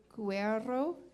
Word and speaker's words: Guerrero: Fernando Guerrero, did I say it right? Oh, he told me to roll my R's, and I tried.